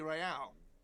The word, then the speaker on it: Real: You owe me 130 real. Uh-oh. What's real? Oh, excuse me. You owe me 130 real. He pronounces the R with a mock aristocratic accent.